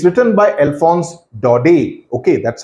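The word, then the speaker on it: Alphonse Daudet: lesson it's written by alons do okay that's how it's pronounced in English in French T is silent do and do okay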